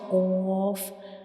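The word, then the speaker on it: قاف: dots upon it, and qaf is a bold letter, so we will read it with heavy sound. When we pronounce qaf, the sound remains into the mouth, it doesn't spills out. So this is the pronunciation of qaf. We read it like qaf. And when we pronounce qaf, the very back part of the tongue touches the soft palate.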